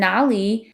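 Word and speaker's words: 哪里: the Beijing dialect and even though Nar and Nali mean exactly the same thing there's a slight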